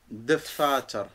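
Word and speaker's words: دفاتر: Il faut quand même prononcer un peu le de. Oui, dfatar. Ouais. Dfatar. Avec l'expérience, comme ça dire dfatar. Dfatar. Tu vois, tu le serres, mais il y est le e dedans.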